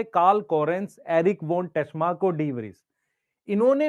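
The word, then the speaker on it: Tschermak: कोरेन्ज़, एक क्या Eric von, T silent है। शेरमक।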